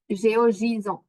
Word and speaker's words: GeoJSON: Je sais pas comment le prononcer. GeoJSON, c'est ça. GeoJSON.